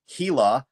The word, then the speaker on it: Gila: This was in the area of Globe, Arizona, and it's in the county of Hila. I thought it was pronounced Gila, Arizona, but people are pronouncing it Gila.